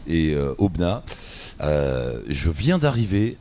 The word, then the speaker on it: Aubenas: Ici, alors, on est à Aubenas. On dit pas le S, hein. Non, ça s'écrit avec un S, c'est comme Paris. Et Aubenas.